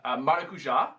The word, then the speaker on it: maracujá: Agora, eu diria que minha palavra favorita é maracujá. Maracujá. E também abacaxi. Eu gosto de falar abacaxi. É muito bom. Muito Essas legal. palavras que têm a ênfase na última sílaba, tipo maracujá, abacaxi, né?